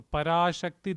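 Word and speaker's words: पराशक्ति: par Shi par Shi the S has a DOT over so is sha keep your tongue flat touch the top of your mouth sha parak par Shi par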